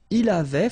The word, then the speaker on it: il avait: Il avait, final T not pronounced.